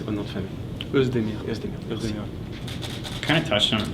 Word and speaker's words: Oezdemir: Puis comment vous prononcez votre nom de famille? Oezdemir.